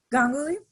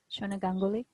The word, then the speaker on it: Ganguly: was saying it right gangali gangali no gangoli thanks for your time